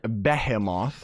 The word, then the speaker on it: behemoth: move on to the Blizzard Beckham off that's that's how they say it in Britain or whatever we just call it behemoth because that's how it's spelt but anyways we got